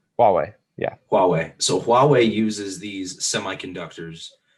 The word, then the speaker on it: Huawei: that depend on them so you said it's pronounced huawei huawei yeah huawei so huawei uses these semiconductors to use thing